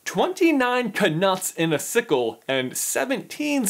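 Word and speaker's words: Knut: coins: galleons, sickles, and canuts. Problem number one, right out of the gate, they pronounce what is clearly supposed to be a silent K in canuts.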